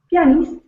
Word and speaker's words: pianist: So, the stress is not on the ah, it's on the e. Pist. Okay. So, it's piano, but pianist. The stress switches.